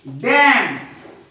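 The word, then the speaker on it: damn: जोडीला जर एम आला या n च्या जोडीला जर एम आला तर हा एन नेहमी सायलेंट असतो मग असतो की नाही आपण बघू याचे स्पेलिंग बघू आपण कॉलम कॉलम त्याच्यानंतर डॅम डॅम त्याच्यानंतर हिम हिम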